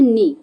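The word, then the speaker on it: knee: बताना है ठीक है जैसे हम पढ़ते हैं नी तो यहां पे क्या पढ़ते हैं नी तो नी में के का तो साउंड नहीं आ रहा ना तो यहां पर जो के है वो क्या है साइलेंट वर्ड है ठीक है बच्चों चलिए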